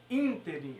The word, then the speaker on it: ínterim: isso é muito importante saber inter em e não é inteirinho ínterim a sílaba tônica é essa daqui gratuito a palavra correta